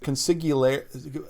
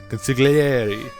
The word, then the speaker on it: consigliere: It's like one of those wiggly Italian words. Try like think The Godfather. Yeah, you gotta talk with your hands. Yeah, put your fingertips together. Now say it. Consigliere.